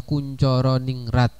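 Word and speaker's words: Koentjaraningrat: Jadi pengertian yang pertama itu dari seorang tokoh yang bernama Kuncoro Ningrat ya. Nah, itu ejaan lama ya, ejaan lama itu tulisannya seperti itu. Tapi pembacaannya ini adalah Kuncoro Ningrat tuh ya.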